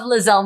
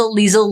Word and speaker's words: Liezel: i love my name even though people say it wrong i will not change my name i love lizelle thank you mom uh what would they say how are they they will call me liza liesel lysol lizzle like saltbury